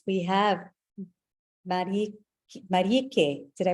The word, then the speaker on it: Mareike: All right, we have Marieke. Did I pronounce that right? Marieke. Actually, it's German, Mareike.